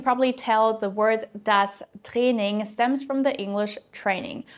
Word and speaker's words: Training: And you can probably tell the word das Training stems from the English training. We just pronounce it the German way.